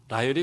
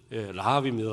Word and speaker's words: 라합: 집에 갔더니 우리 아내가 라헬이 왜 나와? 그러더라고요. 그래서 라헬이 왜? 그랬더니 라합이지 그러더라고요. 그래서 아차 그랬어요. 그랬더니 성경은 라합이라고 읽어놓고 왜 라헬이라고 그래? 그래요. 저도 이제 실수를 합니다. 나이도 얼마 안 됐는데 이렇게 말이 헛나가는지. 어쨌든 라합입니다. 라합.